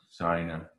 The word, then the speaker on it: sein: These all rhyme with ein. Mein, dein, sein rhymes with ein.